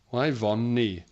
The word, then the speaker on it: Yvonne: She then spelled out the name Yvonne, which is spelled Y von Nee. Yeah. Neither the nurse or myself could tell her that the name she loved was pronounced Yvonne. Pronounced very differently.